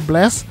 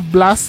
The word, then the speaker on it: Blast: Kenapa dipanggilnya Blast bukannya bless karena memang kata Blast ini kalau dalam bahasa Inggris di pronounciationnya adalah Blast bukan blazer jangan ada yang protes